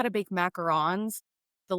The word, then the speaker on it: macaron: Everybody says macaroon. So, like I just say macaron cuz I watched so much Great British Bake Off that like I feel